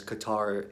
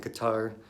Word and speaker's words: Qatar: look super ignorant so I've been saying Qatar just to show that I'm trying to say it right even though obviously I can trying not to put too much emphasis on the TA R so I don't